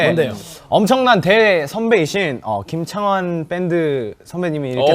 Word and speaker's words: 김창완: 그 김창완 누군지 선배님이랑 누군지 알아요? 누군지 알아요? 누군지 알아요? 너 누군지 알아? 알지! 밴드! 아 밴드인데 이거 가장 유명한 곡. 당연하지. 당연하지가 김창환. 환 아니고 완이야 완.